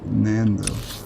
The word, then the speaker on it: Nando: Nando. Sounds quite similar to Lando. Nando. Yeah, I guess I would have to pronounce it Nando. Like Fernando.